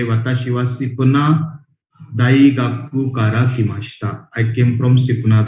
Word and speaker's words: daigaku: डमरू वाला ड नहीं है, दवाखाने वाला द है.